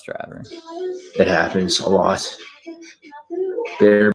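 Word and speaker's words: Behr: Bear what?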